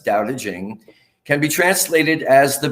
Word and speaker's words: Tao Te Ching: to look at tonight stephen says doubta jing pronounced more or less doubting can be translated as